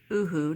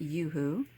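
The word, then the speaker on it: UHU: It is Oohoo, not Yoo-hoo. The very first time someone told me about it, they said Yoo-hoo. That's the American way to pronounce it.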